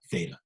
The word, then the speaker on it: theta: line through the middle uh middle and it's pronounced uh theta okay so um how does this look in